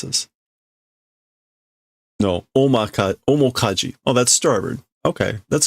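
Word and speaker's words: 面舵: Menda? I don't know how to pronounce this. No, omokaji.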